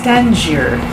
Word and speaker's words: Tangier: you know word nathon with a capital t and pronunciation is tangier okay so anything called